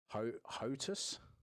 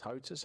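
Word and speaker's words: HOTAS: went out and bought the thrustmaster hotus i think it's pronounced hotes h-o-t-a-s yeah yeah yeah yeah and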